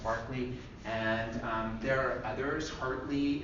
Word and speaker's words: Berkeley: I know it's read Berkeley, but it's pronounced Berkeley.